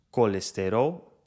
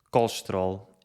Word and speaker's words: colesterol: Duas palavras em que se vê bem esta diferença são estas. No Brasil pronunciam-se colesterol e benefícios. E em Portugal pronunciam-se colesterol e benefícios. Como pudeste constatar, esta compressão das sílabas átonas no português de Portugal faz com que algumas vogais não sejam pronunciadas. A vogal que mais omitimos é o E átono, que faz o som I. Colesterol fica colesterol, benefícios fica benefícios.